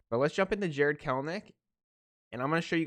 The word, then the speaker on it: Kelenic: will say i said jared kalenick instead of jared kellnick for a very long time a seattle mariners fan actually corrected me on it so i am like 95 sure it's kelnick even though it's spelled just like clinic i don't know i